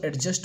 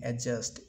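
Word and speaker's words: adjust: हम लोग अपने ज़िंदगी में क्या करते हैं, जिसको एडजस्ट बोलते हैं ना दोस्तों, उसे क्या बोलेंगे, एडजस्ट, ए डी साइलेंट, अजे यू एस टी रहा तो क्या, एडजस्ट, ठीक है।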